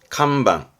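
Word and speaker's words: 看板: 발음은 칸방, 칸방.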